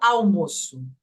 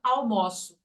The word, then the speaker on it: almoço: escrever aí na tela as homógrafas Elas têm exatamente a mesma grafia mas o som é diferente então essa primeira por exemplo é o almoço eu escrevo assim a segunda é eu almoço ó que aconteceu o almoço é um substantivo eu almoço é o verbo a pronúncia é diferente ó o almoço eu almoço a pronúncia